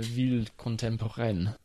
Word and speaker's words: ville contemporaine: It's a ville contemporaine or something. Why don't you pronounce it properly? Une ville contemporaine.